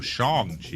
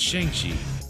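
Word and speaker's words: Shang-Chi: yet you haven't what you did you say shangi yeah you know it's called shangi that's what they all the newscasters say they go Shang Chi yeah it's shangi that's I thought it's Shang right yeah like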